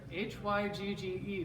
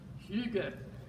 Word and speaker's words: hygge: across the screen here h-y-g-g-e pronounced hygge can you say that it's it's like hygge but you're trying to